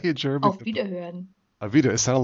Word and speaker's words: Auf Wiederhören: Auf Wiederhören. Avita. It sounded like Velveeta, but okay, that was okay. I'm sorry. How, Okay. how do you say it again in German? Goodbye. Auf Wiederhören.